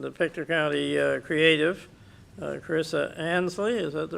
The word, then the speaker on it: Ansley: Now we have a presentation, and the Pictou County Creative, Carissa Ansley, is that the right pronunciation? Yeah. Ainsley, is with us, and she's heavily involved with